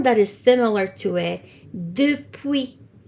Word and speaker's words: depuis: And then the other one that is similar to it, depuis. Depuis. So the S is silent.